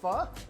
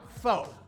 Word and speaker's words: Pho: of you might be thinking what exactly is f first of all it's pronounced f it is not faux and now you know so essentially f